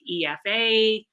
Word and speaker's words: Aoife: to pronounce it but i say to people to read my name backwards like efa and that will kind of help them to to know how to pronounce it and it's given